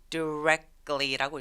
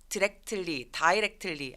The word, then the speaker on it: directly: 강세는 이음절에 있어요. 읽어볼까요? 이거 이상하게 막 다이렉트론 이런 것 때문에 그런지 이거를 direct이라고 많이 읽으시거든요. 근데 directly 강세가 이음절에 오기 때문에 이음절의 I 발음은 정확하게 die라고 읽지 않고요. directly라고 읽습니다.